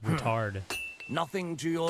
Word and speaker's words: Ruthard: trade yeah I was I thought it was pronounced ruthard but it's pronounced routard nothing to your L what will it be